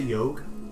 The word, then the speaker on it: Yawhg: It's pronounced the Yawhg.